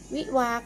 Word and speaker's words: วิวาห์: ค่ะ หอ มอ สอ การันต์ หงส์ นะ คะ สะกด อย่าง นี้ นะ คะ วิวาห์ ค่ะ วอ อิ วิ วอ อา หอ การันต์